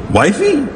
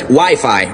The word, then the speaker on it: Wi-Fi: Wifey? Well, it's either wiffle ball or an arranged marriage game. It's actually pronounced Wi-Fi, Ralph.